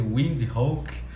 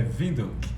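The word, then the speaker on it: Windhoek: muitas cidades na evito apesar de parecer windy hawk né se a gente fosse ler em inglês não a pronúncia correta é vidro bacana a gente começa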